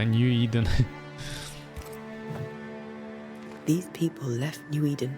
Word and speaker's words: New Eden: Вот как правильно читается-то, Нью-Иден.